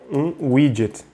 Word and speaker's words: widget: layout, vai ser um widget, tá? Então se escreve assim, né? W-I-D-G-E-T, e se fala widget.